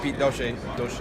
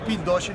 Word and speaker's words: Piet Dossche: And Shaw recently merged with COREtec, and we're here right now with Piet Dossche. Pronounce it right?